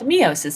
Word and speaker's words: meiosis: to talk about meiosis sometimes you'll hear it called meosis depending on who is teaching it and where they're from and how they pronounce it but meiosis or meosis your choice just like tomato or tomato um what we're talking